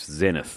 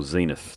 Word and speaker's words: Zenith: that's coming up mate Zenith or Zenith depending on where you're from in the world is how you pronounce it there but you